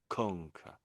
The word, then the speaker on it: conquer: Conquer. And so the first con has the has a bit more loudness to it. Bit more emphasis.